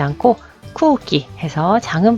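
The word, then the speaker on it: 空気: 모음 우와 우가 왔을 때 우우 쿠우끼 라고 발음하지 않고 쿠우끼 해서 장음 발음해 준다라는 거. 자, 이것도 마찬가지죠. 스지 숫자라는 표현이고요. 쯔가 라고 해서 통과 라는 뜻이죠. 자, 한자 한번 써보도록 할게요. 그래서 공기, 쿠기, 그죠?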